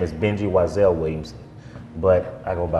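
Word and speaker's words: Y'Zell: And then eventually I put an apostrophe between the Y and the Z. Okay. So that people can say phonetically Wiesel.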